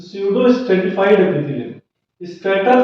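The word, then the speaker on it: pseudo: स्यूडो पसूडो मत पढ़ लीजिएगा, पीस है ना, पी यहाँ पे साइलेंट है, पसूडो पसूडो कर रहे थे आप लोग, वाह बेटा वाह।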